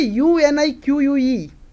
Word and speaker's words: unique: i q u e the pronunciation of the word is unique appears at the final position of the word but to represent that curve the combination of three letters is used q-u-e q-u-e the combination of three letters represents the sound curve if I take another